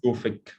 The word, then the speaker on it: Gufic: How do you pronounce this? Is it Gufic? Yeah, it's Gufic.